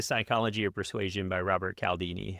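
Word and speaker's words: Cialdini: of Persuasion by Robert Calaldini. I believe that's how it's pronounced. Uh it might be Chaldini if I were Italian.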